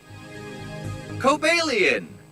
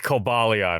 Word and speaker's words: Cobalion: foreign ER kobalian no no we're not doing that no I ain't pronouncing it like that it's kobalion okay that is the